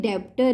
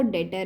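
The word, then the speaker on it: debtor: वैसे हम इसको लिखते डेब्टर है पर पढ़ते इसको डेटर है। यहाँ पे बी बी क्या होता है, साइलेंट होता है।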